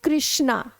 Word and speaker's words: कृष्णा: आ नहीं लगता है, इसलिए कृष्णा की स्पेलिंग लिखते कृष्णा है और पढ़ते अपन स्पेलिंग क्या बनाते, कृष्णा, KRI, ना कि KRA।